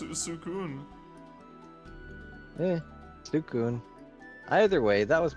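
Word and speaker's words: Suicune: in the anime, it's pronounced Sukun.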